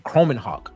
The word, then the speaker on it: Kromenhoek: Luke, Bubba, help me pronounce his last name. Kromenhoek. I think that's how you say it.